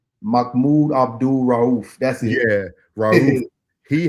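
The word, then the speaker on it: Mahmoud Abdul-Rauf: Sharif, no. It ain't Sharif. It's Mahmoud Abdul Rauf.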